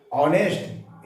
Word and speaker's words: honest: ऑनेस्ट एच यहाँ silent है, इसका उच्चारण अ आ रहा है, क्योंकि ये भावेल साउंड हो रहा है, इसलिए पहले इसके पहले हम एन लगा करके ऑनेस्ट बॉय लिखेंगे.